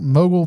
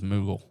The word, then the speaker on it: Moogle: Stiltskin Mogul Merchant. 1 white. Okay, ready to read this? Sir, that is Moogle. Mogul. Moogle. Yes. Great Googly Moogly Mogul. Yes. All right. Stiltskin Moogle Merchant.